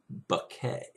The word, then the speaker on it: Bucket: u c ke T which in my English would be pronounced bucket but she wanted it to sound more elegant and so she pronounced it bucket you know you know